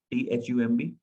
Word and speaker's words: thumb: MB में B silent हो जाता है 95% केस में. THUMB, thumb, thumb नहीं.